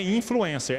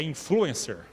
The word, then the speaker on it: influencer: Então não é influencer, é influencer, tá? A sílaba forte não é.